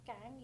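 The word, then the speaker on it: Qing: Dynasty के बारे में, जो मैंने आपको पहले भी बताया था कि इसकी जो प्रोनाउंसिएशन है वो वही वाली किंग है, लेकिन इसकी जो स्पेलिंग है उसमें क्यू आ जाता है ना कि के.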